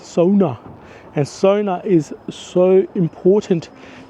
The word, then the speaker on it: sauna: by the way talking about Sona it's called Sona that's how you pronounce it that's it Sona so it's not Sona it's Sona and Sona is so important to the Finnish